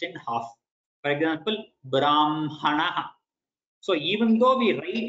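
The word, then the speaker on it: ब्रह्मणः: With Makara half and then Hakara following in full.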